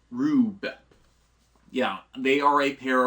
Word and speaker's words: R/B: The stylization for the name being R/B, which they are pronouncing in the kana for the series as Rube.